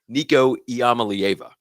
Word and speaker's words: Nico Iamaleava: Uh, but you know, I had to jump in about Tennessee parting ways with their quarterback, Nicoyama.